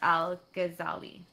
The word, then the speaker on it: Al-Ghazali: supported Aristotle's teaching against attacks by Islamic philosopher Al-Ghazali. Yeah, you actually pronounced that one right.